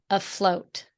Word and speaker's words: afloat: attention to how you're going to pronounce afloat I'll float can you surprise me one more time for me you did a great just then a float a float perfect okay here's the sentence they